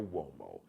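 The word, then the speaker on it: Umo: Mario Womo. M A R I O U M O. That's u M O WO. It's an Italian surname, but it's pronounced like with a like a W, like a W, like a WO sound.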